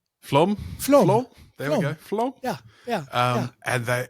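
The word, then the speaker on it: Flåm: And and I know about half the team ended up going to Bergen and I'm going to mispronounce it. Uh Flam Flom.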